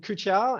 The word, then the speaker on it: XTIA: are actually uh so it's a weird japanese pronunciation of xtia so yeah we called kuchar and and our tech